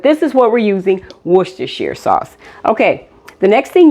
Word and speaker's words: Worcestershire: cheese and we're going to be using some Worcestershire sauce let me say something real quick about